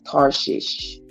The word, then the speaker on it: Tarshish: the coast of Africa let's see the Navy of tarshish and it is spelled th a r s h i s h according to the Jewish